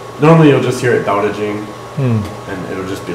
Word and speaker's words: Dao De Jing: Tao and Te, but it's normally pronounced with a D, because it's Dao De Jing.